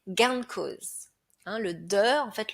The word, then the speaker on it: gain de cause: Dans le langage courant, on va le prononcer gain de cause.